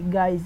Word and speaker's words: guise: আমি আবারও বলছি, UI plus consonant plus AEO এভাবে ওয়ার্ড গঠিত হলে সচরাচর UI এর উচ্চারণ ইংরেজি আই এর মতন হয়।